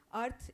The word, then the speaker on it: Arth: That's quite clear with her name, Earth, A-R-T-H. Phonetically, it, you know, gives an homage to the planet.